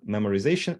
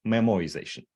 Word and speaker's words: memoization: like I mispronounced things it's not memorization it's memoization um and as was